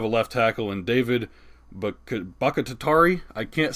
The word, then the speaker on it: Bakhtiari: Pretty average, but they do have a left tackle in David Bakhtiari. I can't say his name. Bakhtiari. Thank you. It's hard for me to pronounce his name, but he is a stud.